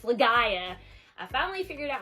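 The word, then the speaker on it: Legaia: said the name wrong I said the legend of liia but it's legia I finally figured out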